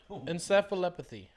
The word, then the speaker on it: encephalopathy: How do you pronounce it? Encephalopathy.